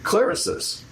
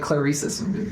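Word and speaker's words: Clarisys: The speakers that are on the cover that were that you How do you say the name of them? ClariSUS. Clarissus. I would have said I'd like Claresus.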